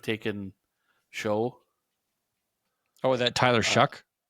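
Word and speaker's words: Shough: Oh, that Tyler Shuck? It's pronounced Shuck, which is weird, but Shuck?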